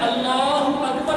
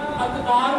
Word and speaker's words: اللہ اکبر: نے تکبیر پڑھنی ہے تو اللہ اکبر پڑھنا ہے، اللہ نہیں پڑھنا، اکبار نہیں پڑھنا، اکبار نہیں پڑھنا۔ اس